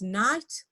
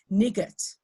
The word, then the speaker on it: night: silent e syllable and here we have the IgH okay as in the words night or hi I'm sure a lot of you agree with you've heard children reading it as nigut okay or Higa so